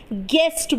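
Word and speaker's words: guess: बोलते हैं या जैसे यस जी यू A double S गैस यानी अनुमान लगाना तो इसमें भी यू ए रहा है और यू क्या है यहां पर भी साइलेंट है अब देख लेते हैं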